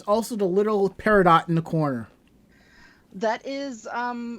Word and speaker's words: Peridot: And as Cedarberry says, also the little peridot in the corner. That is for my computer. My computer is actually named Peridot.